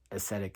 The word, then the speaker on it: ascetic: an aesthetic stage okay ascetic is spelled a s c e t i c okay aesthetic is a lot of times when they hear it it sounds like Aesthetics right so it's two